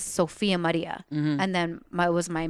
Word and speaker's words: Sophia Maria: Yeah, say it like that. Sophia Maria. Sophia Maria.